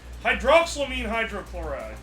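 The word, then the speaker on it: hydroxylamine hydrochloride: you say that how do you say that hydroxyamine hydrochloride that's it which will produce salt water and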